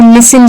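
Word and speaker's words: listen: था ना वैसे ही ये जो ट है जैसे एस के बाद आ रहा है या बीच में आ रहा है तो वो साउंड साइलेंट हो रहा है। मैंने आपको बताया था कि लिसन जैसे वर्ड्स हैं, कासल जैसे वर्ड्स है, विसल जैसे वर्ड्स हैं।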